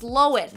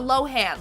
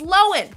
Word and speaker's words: Lohan: says her name and turns out it's pronounced Lohen, not Lohan. Like, we've been saying it wrong for years. My whole life is a lie. I've been pronouncing it Lindsay Lohan. It's Loen.